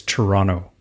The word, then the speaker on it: Toronto: If you don't want to sound like you're not like in the know, it's Toronto. Don't pronounce the second Toronto. T. You don't pronounce the second T.